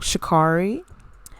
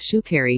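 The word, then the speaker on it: Sha'Carri: because of the whole shikari uh mess it's pronounced shoe carry you dumb bitch i'm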